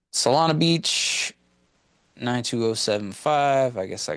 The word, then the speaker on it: Solana Beach: Solana?